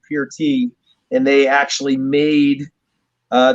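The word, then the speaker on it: Peart: neil and as we all call him neil pert uh his last name is actually pronounced pure tea and they actually made uh the beer it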